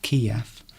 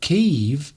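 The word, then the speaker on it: Kyiv: Dangerous surgery has has, as explained to us about the different pronunciations of Kiev. So Cave is how the Ukrainian people pronounce it, and Kiev is from the Russian pronunciation of the capital.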